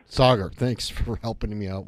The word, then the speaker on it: Saagar: am i pronouncing your name correctly it's it's pronounced Sagar Sagar thanks for helping me out with that all